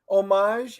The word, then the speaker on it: homage: Homage is much better than what you used to pronounce it. So homage that is a win as well.